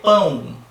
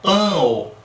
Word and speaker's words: pão: Você vai ter pão, pão. Você tem o U ali na pronúncia final. Então, aqui a gente tem fonema U. Tá bom? Ninguém fala pau. Pan, não, seria pan-o.